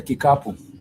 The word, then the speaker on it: kikapu: basket, you would say kikapu. Kikapu is a word which is a ki, ka, and pu.